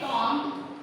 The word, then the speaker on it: comb: Next है कॉम, COMB, कॉम, B जो है वो साइलेंट हो जाता है, राइट?